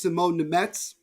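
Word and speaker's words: Šimon Nemec: we're all politically correct, it's actually pronounced Simone Nemec. Just so Is that it? people Okay, know. well, we've been pronouncing it Yeah, wrong the whole time. it's everybody's been pronouncing it wrong. It just it really We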